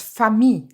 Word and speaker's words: famille: Gentil, for masculine and feminine is the same sound, same as famille, one of your topics.